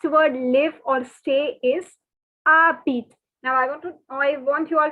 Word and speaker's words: habites: your colored pen and please note that the H is silent and the S is silent. Okay. So it is not habites, it is not anything. It is not habites, it is not habite. The pronunciation is habit, habit, habit.